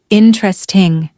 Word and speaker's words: interesting: If you pronounced every syllable, you're not wrong. But in everyday conversation, native speakers usually shorten it. You'll often hear interesting. It's quicker, smoother, and much more natural.